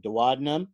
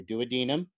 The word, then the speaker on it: duodenum: The duodenum or duodenum, both are appropriate pronunciations, and quite frankly, I don't care how you pronounce it as long as you spell it correctly.